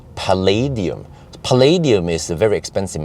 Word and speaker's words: Palladium: it was called long range and actually I mispronounced it it's Palladium Palladium is a very expensive material similar to